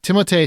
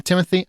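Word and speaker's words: Timothée: review let me paraphrase timot shalom it's actually pronounced Timo did you know that because he's French but some people want to call him Timothy I'm just going to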